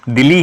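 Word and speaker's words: Dili: इसकी राजधानी का नाम दिल्ली है और कहानी ना कहानी यह संवारे वैसे प्रोनाउंस होता है जैसे हमारी दिल्ली है जिसे हम दिल्ली बोलते हैं उसे तरीके से ये प्रोनाउंस करते हैं हम तो इसलिए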